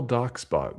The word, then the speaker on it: DocsBot: Or DocsSpot sometimes. Exactly. No, it's DocsSbot. DocsBot, like documents bots.